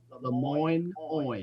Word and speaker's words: LeMoyne: How do you pronounce that? Lemoyne College in that is HBCU, Historically Black University in Memphis, Tennessee, where I was born and raised.